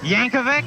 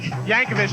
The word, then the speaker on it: Yankovic: pronounce that last name Yankovic Yankovic just like you think and we are standing